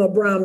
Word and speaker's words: Abram: saying to him I should have called him Abram that's how you pronounce it I am the almighty God walk